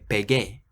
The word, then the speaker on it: pegué: In the past tense, you get that extra U after the G to keep the harsh G sound.